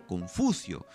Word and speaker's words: Confucio: de todos que es el de confucio cuya pronunciación en chino más de semeja cum footsie de aquí nadie se